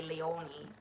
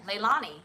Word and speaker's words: Leilani: the uh the mennonite the mennonites when they say my name they say leoni leoni yeah leilani yes that's right but again like a